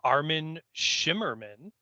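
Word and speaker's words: Armin Shimerman: 100 and rounding out our guest cast is armin shimmerman oh yeah am i pronouncing that right you are indeed sir okay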